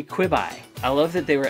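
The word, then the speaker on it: Quibi: employee at some point Who's like annoyed with people pronouncing it queebie yeah they're like not quebe it's short for quick bites so it tends to be quit by yeah it should be quibby I love that they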